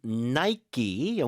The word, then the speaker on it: Nike: 하긴 뭐 우리도 뭐 맥도날드 우리 마음대로 읽으니까 뭐 영국 사람들이 이걸 나이크로 읽는다 해서 뭐라고 그럴 수는 없을 것 같아요. 자, 어쨌든 나이키, 미국 발음 그렇습니다.